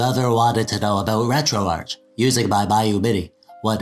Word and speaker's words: RetroArch: it either way but the actual developers who created it and work on it call it retro Arch so that's good enough